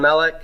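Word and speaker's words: מלך: okay so here's Melek where's my accent on Melek first syllable it's a seg light now first a little stress okay and remember cycle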